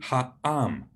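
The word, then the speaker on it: העם: So the people is pronounced in Hebrew ha'am, beginning with that glottal stop, ha'am, the people.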